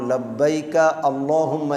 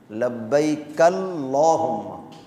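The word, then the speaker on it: لبيك اللهم: এই আল্লাহুম্মা শব্দটা যদি শুরুতে থাকে তাহলে হামজা উচ্চারণ হয়, আর যদি মাঝে আসে তাহলে উচ্চারণ হয় না। এই জন্য লব্বাইকা আল্লাহুম্মা এইভাবে না, লব্বাইকাল্লাহুম্মা। কাফ দিয়ে লাম ধরতে হবে।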